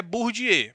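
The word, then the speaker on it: Bourdieu: francês chamado Pierre bourgier a pronúncia do nome do cara é burdi mas se escreve assim ó bordieu Beleza mas se pronuncia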